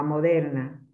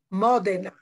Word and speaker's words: Modena: Inoltre, qualche volta prendo il treno per andare, per esempio, a Ferrara o a Moderna. Modena.